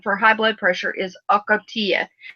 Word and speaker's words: Ocotea: high blood pressure, is Ocotea. Ocotea, and everybody pronounces it different. Ocotea, Osotea, lots of different pronunciations. So don't kill me for pronouncing it different than you do.